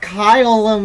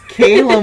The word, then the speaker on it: Kaylum: rogue that's the answer it's not kyle it's caleb why can't noah get this right because it doesn't look like it's pronounced that way it's k k a y not kylim what are we doing